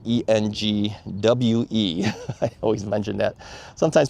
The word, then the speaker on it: Engwe: It is Engwe, e n g w e.